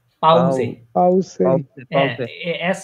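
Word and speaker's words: Pause: এটা এটার উচ্চারণ কি হবে বলেন তো প্রোনাউন্সিয়েশনটা পাউজে পাউসে হ্যাঁ এস উচ্চারণ করবেন এটা জের উচ্চারণ করবেন পাউজে পাউজে পাউজে পাউজে মানে হচ্ছে ব্রেক ব্রেক মানে হচ্ছে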